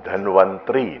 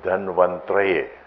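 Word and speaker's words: धन्वन्तरये: They say Om Dhanvantri Namaha. It is not Dhanvantri, it is Dhanvantraye. Can you say Traye? Traye? Traye? So when you write it, it is written T-A-R-A-Y. But when you pronounce it in Sanskrit, it is not Taraye. It is not Taraye, but it's Traye.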